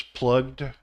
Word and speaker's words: plugged: has a JD sound plug becomes plugged it has a g D sound and plow becomes plowed